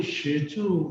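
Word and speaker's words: 石竹: 이 페랭이꽃을 석죽이라고 하는데 꼭 대나무 모양처럼 아주 가늘지 작지만 형태가 꼭 대나무하고 유사해서 석죽이라고 하는데 이 석죽의 발음이 시주 이렇게 발음이 돼요. 시주 중국말은.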